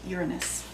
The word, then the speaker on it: Uranus: the sun and pluto uranus actually it's supposed to be pronounced uranus okay so take your